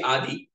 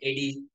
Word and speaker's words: Adi: Is it Addy or is it Adi or is it something else? it's actually Adi. I've been called versions like Eddie, like here.